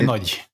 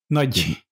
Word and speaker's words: Nagy: Nagy is pronounced Imre Nagy. Is it Nagy? Nagy. I did not know that. It's trying to pronounce G and Y together, like G.